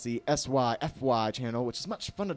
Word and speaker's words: Syfy: the Sci-Fi channel s-c-i-f-i Channel now it's the Syfy channel which is much funner to say hi that sounds same but spell it spell it just rolls off the tongue